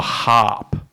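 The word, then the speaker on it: HAARP: and Harry's a legend uh number five the harp conspiracy I've literally have no h a a r p is the way it's spelled this uh it suggests that the harp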